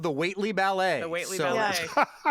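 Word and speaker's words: Whately: How do you correctly pronounce that town name? Waitley? Yes.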